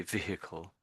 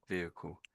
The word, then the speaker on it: vehicle: So the Americans tend to say vehicle, and you're a little bit towards the American way, vehicle. That's where they say it. Some Americans say it that way, but otherwise it's just sort of the H dies a little bit. So vehicle, vehicle.